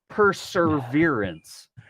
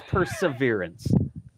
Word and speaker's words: Perseverance: I was practicing saying all of the things that you need to say because it's not perseverance, it's perseverance, right? Correct. Yes. There's no R. Perseverance. That's not how you say it.